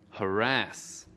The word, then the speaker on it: harass: Từ harass có hai âm tiết. Trọng âm của từ harass ở âm tiết thứ hai.